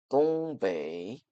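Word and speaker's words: 东北: 동국 지역을 중국어로 발음하면 이렇습니다. 똥베이 그러면 이곳의 지리적 특징을 알아볼까요?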